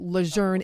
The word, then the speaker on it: Lejeune: death at Kapalua shortest now that we know luzerne is the correct way to pronounce the base we feel we should pronounce